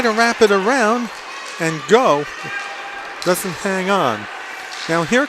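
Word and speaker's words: Gho: Go with the save. He spells his name G-H-O, pronounced go.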